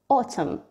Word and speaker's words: autumn: MN, تنتهي الكلمة بMN, دايما الN silent. For example, autumn.